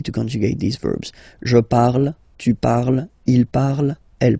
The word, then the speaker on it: parle: don't hate me, but you won't pronounce these letters, okay? You have to write them for the plural form, but you don't pronounce them, so you get il parle, elle parle. So the good news is